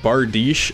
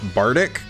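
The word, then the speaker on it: Bardiche: Phantom Knights of Rusty Bish it is actually pronounced Bish and not Bic I know I was surprised too but fun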